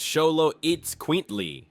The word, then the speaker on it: Xoloitzcuintli: The Xoloitzcuintlis, pronounced Xoloitzcuintlis, or Xolo for short, is one of the world's oldest and rarest dog breeds.